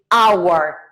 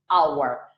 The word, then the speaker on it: hour: but the age is mute so we say our not power remember that the correct pronunciation is our our hand because on the contrary hand as